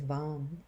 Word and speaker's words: vam: The seed syllable here is Vam, V-A-M.